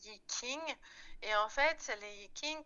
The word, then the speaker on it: Yi King: Les Vikings, on peut aussi dire Yijing ou Yijing, selon prononciation, parce que les Chinois, bien sûr, vont les prononcer différemment. Nous, on ne peut pas forcément avoir la prononciation chinoise. Pour simplifier, on dit Yiking.